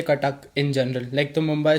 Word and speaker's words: Cuttack: तो ये तुम्हारा कॉलेज कटक में है ना? लाइक ऐसे ही प्रोनाउंस करते हैं ना उसे? हाँ, कटक में बोल सकते हो.